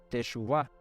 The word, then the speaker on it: teshuvá: arrepentidos viene de una palabra hebrea que se pronuncia teshuvá techuvá te suba significa retornar Volver al original o